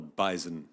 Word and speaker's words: bison: that is called the bison. It is. It does have a Z.